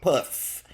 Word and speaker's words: Puss: You gotta pronounce it like you got a thick tongue. Puss.